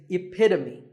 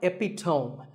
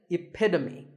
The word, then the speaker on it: epitome: example of something and the perfect pronunciation of that is epitome it's not epitome once again epitome of course once you